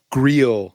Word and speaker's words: Greil: Greil, not Oh, Grail. Rhymes with heel.